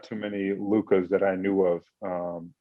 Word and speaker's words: Luka: Growing up, there were not too many Lukas that I knew of, Luka, spelled that way. And so people still continue to sometimes spell it wrong, say Luke Garza or Luca.